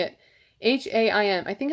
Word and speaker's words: Haim: Haim. I think it's like Haim.